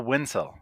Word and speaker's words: Wensel: have with us April WIIL did I get that right yes it rhymes with pencil awesome and uh I